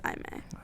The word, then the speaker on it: Aimee: It's spelled like Amy, but it's Aimee.